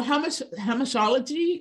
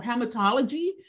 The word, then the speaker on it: hamartiology: So some, depending on where you're from, I studied in England, studied in Spain. So the translation, not the translation, the pronunciation. So hamartiology or hamartology, it is the branch